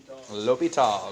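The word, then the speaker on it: L'Hôpital: l'hopital's rule okay and that's how you pronounce it all lupito okay it's got like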